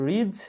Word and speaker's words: ridge: সর্বশেষ আসে রিজ বা শৈলশিরা। রিজ স্পেলিংটা খেয়াল করবা, RIDGE, হচ্ছে এখানে সাইলেন্ট লেটার।